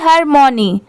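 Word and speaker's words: harmony: आई एन इन ये है हरमोनी। इसे क्या पढ़ेंगे? हारमोनी।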